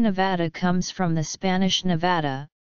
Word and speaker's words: Nevada: the world the name Nevada comes from the Spanish Nevada meaning snow-covered after the Sierra Nevada most Nevadans pronounce the second syllable of their state name using the trap vowel many from outside the